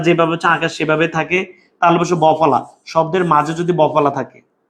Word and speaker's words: বিশ্ব: মধ্যে কোন পার্থক্য আছে তুমি বিষ বউ বলো বলো বিশ্বকে আমাদের এই বিষ বউ আমরা কি বিষ বউ বলি না বিশ্ব বলি বিশ্ব বলি তার মানে এই যে